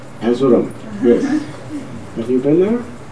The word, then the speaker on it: Erzurum: Erzurum. Erzurum, yes.